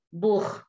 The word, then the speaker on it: Buch: Kalau Buch di sini CH-nya itu kental. Buch. Beda kalau misalnya ich. Ich itu agak tipis CH-nya. Ich liebe dich. Das Buch.